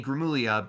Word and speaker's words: Gramuglia: I saw by Anthony Gramuglia, a YouTuber we're big fans of, where You finally got his name right. You didn't pronounce the G.